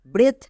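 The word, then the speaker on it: breath: এইচ থাকলে এককার হই যেমন ব্রেথ এখানে ই এ এর পরে টি এইচ আছে তাই এর জন্য একার হচ্ছে বি আর এর জন্য ব্রো ই এ এককার টি এইচ এর জন্য থো মানে ব্রেথ কিন্তু ই এ এর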